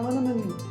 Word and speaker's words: Linneman: Alicia Lemus, Rebecca Hughes, Val Linneman, Rhymes with Cinnamon, Nick Harper, Stephanie Holden, Martha